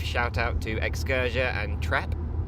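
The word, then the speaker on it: Trep: Brief shout out to Excursia and Trap. Was it Trap? I assume that's how it's pronounced. That's how it's spelled. Yeah, it's not Track. It's T-R-E-P, right? T-R-E-P, yeah.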